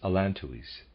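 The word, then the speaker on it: allantois: close quote readers aside i'm pronouncing the word a-l-l-a-n-t o-i-s as alan tuis end of readers aside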